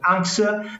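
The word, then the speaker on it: Anx: we run a DIY and sustainable brand called Ana that is spelled a NX we do vegan sauces and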